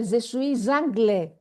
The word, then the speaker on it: je suis anglais: Je suis anglais. I didn't say je suis anglais. because it's a silent final consonant, je suis, the S at the end, and the next word begins with a vowel.